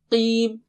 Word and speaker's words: قِيْم: And qim, don't say khim. And don't say kim. It is qim. Repeat after me 3 times. Qim, qim, qim, qim.